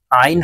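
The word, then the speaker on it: عين: হবে ত ত জ আইন আইন হরফ হলকের মধ্যখান থেকে চাপ দিয়ে উচ্চারণ করতে হবে আইন আইন ফা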